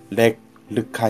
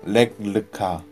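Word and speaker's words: לך לך: 이야기는 신기한 단어로 시작합니다 랙 르 카 입니다 명령어 인데 히브리어 ch 는 강하게 발음해야 합니다 문자적 의미는 스스로 걷다 는 뜻으로 쓰이고 관용적으로 이런 앞으로 가라는 뜻으로 이해 됩니다 하나님께서 렉카 혹은 이런 앞으로가 라고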